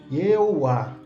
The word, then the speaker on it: Yehováh: Ele traz que em grego, naquela época, também era possível constatar a pronúncia Yehová, com E, O e A.